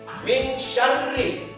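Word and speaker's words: مِن شَرِّ: Nah, tapi kalau dalam surah Al-Falaq ini huruf sya itu ya dia harus lidahnya kita ini agak lain sedikit. Min syarri.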